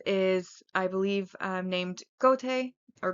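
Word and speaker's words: Goethe: um named Gote or Goat. Goat's Goat's It's spelled g o e t h e. I don't know how you're supposed to to say it, but I'm going to go with goat or goat.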